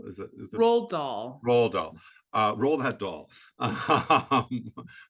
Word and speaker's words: Roald Dahl: Roald Dahl? Is it Roald Dahl.